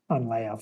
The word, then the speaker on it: Leia: I'm so limited with Leah because she had, I always call her Leah instead of Leia, but they also say her name differently in the movie too, They which is do, so yeah.